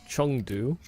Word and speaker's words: Chengdu: It is Chengdu. You know, like kind of like it's spelled with an E, but it almost sounds like it's spelled with a U.